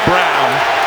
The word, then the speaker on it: Braun: out give it to brown spelled like braun renounced like brown offensive foul no matter